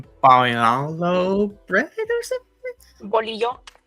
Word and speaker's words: bolillo: Bolillo. That's how I pronounce it.